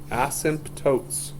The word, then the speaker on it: asymptotes: we're doing this vertical the word is asymptotes asymptotes a simp tokes as well stress could be on the different syllable so non permissible values